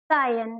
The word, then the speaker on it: scion: तो इसको हम बोलते हैं सायन। क्या बोलते हैं, सायन। तो आप SCION का जो प्रोनाउंसिएशन है वो सायन होता है।